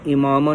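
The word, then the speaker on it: عمامہ: اور معنی سماعت فرمائیے۔ میں امامہ بولتا تھا پہلے، کبھی کبھار منہ سے نکل جاتا ہے، اور میجورٹی میں لوگ جو ہے اس کو امامہ بولتے ہیں، لیکن اس کا صحیح تلفظ ہے امامہ شریف۔ یہ عربی کا لفظ ہے، عربی کا لفظ ہے امامہ شریف۔ اس کا درست تلفظ عین کی زیر کے ساتھ امامہ ہے، اور اسے عین کی زبر کے ساتھ پڑھنا غلط ہے۔ امامے کا لغوی معنی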